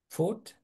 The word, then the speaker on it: food: So including pay for housings, pay for food, and Food. pay for Food. Nó là U kéo dài nha.